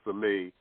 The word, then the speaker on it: Sami: Sami, Sami, pronounced Sami.